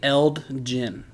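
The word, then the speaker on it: Eld Jinn: I say Eld Gin. Eld Gin, like Elgin Baylor? No, it's two names. Eld, and then his last name's Gin.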